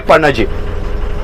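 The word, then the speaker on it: Panaji: सबसे बड़ा सिटी है पनजी पनजी बोलो या पंजीम बोलो pronounce in English we call पंजीम हमारे लोकल लैंग्वेज में पंजी बोलते हैं जो गोवा की कैपिटल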